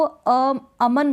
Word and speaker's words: अमन: और क्यों नहीं करेंगे, क्योंकि इसका प्रोनाउंसिएशन ही ऐसा है। आप इसको अमन बोल रहे हैं, क्या बोल रहे हैं, इस नाम को अमन। अब न को आप ऐसे नहीं बोल रहे हैं अमन, न को खींच के